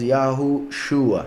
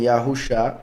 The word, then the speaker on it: Yahushua: En algunos casos aparece una Vav entre la Shin y la Ain, para confirmar que la pronunciación es Yahushua. Algunos dicen Yahusha, otros dicen Yahshua, otros dicen Yeshua, otros dicen Yehoshua, y lo peor, Jesús, ¿verdad?